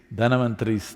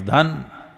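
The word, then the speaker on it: Dhanvantari: It is Dhanavantari's Trayodashi. North Indian people must connect, don't go on clipping away one syllable and come Dhanavantari becomes Dhan, Trayodashi becomes Tera. Don't keep clipping it away.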